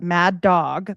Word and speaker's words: Madog: So Maddo was um like here they either spell it mad dog but it's like sounds like Maddo was according to folklore